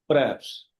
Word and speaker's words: perhaps: Uh this word is not perhaps, it's perhaps. H is silent.